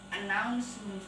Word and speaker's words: announcement: Announcement board. Nah, announcement, noun bukan unknown tapi announcement board. Ya, begitu cara bacanya.